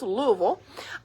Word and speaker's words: Louisville: And Miss Jackie is here from Louisville. You got to say it like you have a mouthful of mashed potatoes, Louisville.